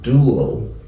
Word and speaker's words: dual: two syllables dual dual this is also in two syllables dual this is in two